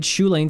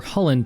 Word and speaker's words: Chulane: in this game and i played shulain teller of tales or hullen teller of tales depending on how you want to pronounce it the goal of this